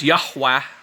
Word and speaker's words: Yahweh: uh you know um it says Yahwa. That's how you properly pronounce Yahweh. Um and it's not Yahwa, by the way. It's Yahwa. It's it's two different vowels.